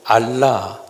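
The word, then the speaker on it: ἀλλά: 단어가 경제인 중요한 단어입니다 이 헬라어를 어떻게 읽느냐면 알라 그렇게 읽어요 한번 해보실까요 알라 알라 발음이 그렇게 알아요 이것을 영어로 번역하면이 번역이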